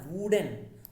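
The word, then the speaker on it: wooden: आपको लग रहा होगा वुडन तो ऊ निकल रहा है, लेकिन आप इसका प्रोनाउंसिएशन सही नहीं कर रहे हैं। इसका सही प्रोनाउंसिएशन होता है वुडन, वा में बड़ा ऊ की मात्रा, और वा एक क्या है, कॉन्सोनेंट है, इसलिए हम इससे पहले ए लगाते हैं, एन नहीं लगाते हैं, ए सही है।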